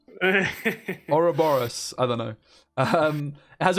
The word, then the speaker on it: Ouroboros: I've always called it Uberos, but now I'm looking at it, it's definitely not Uberos. Ouroboros, I don't know.